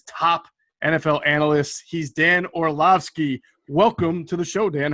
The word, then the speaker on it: Orlovsky: one of espn's top nfl analysts he's dan orlowski welcome to the show dan how you doing